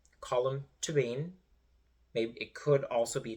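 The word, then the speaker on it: Colm Tóibín: by colum toban and that is how you pronounce his name colum toban it could also be tban but that's how they pronounce it on the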